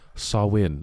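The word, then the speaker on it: Samhain: ancient Celtic Festival of samhan a galic word pronounced sawin oh swin Sam Sam a pagan religious celebration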